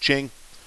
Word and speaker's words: Qing: the overthrow of the Ching Dynasty it's spelled with a Q here but it's pronounced Ching this was led by